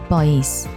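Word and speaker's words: 不好意思: People often pronounce it like 不好意思, 不好意思. You can notice that the sounds of 不 and 好 are closely linked together as if they were a single word.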